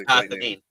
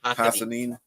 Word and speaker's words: Hassanin: I don't know what his exact his exact name is Hassanin. It's Hassanin. Yep.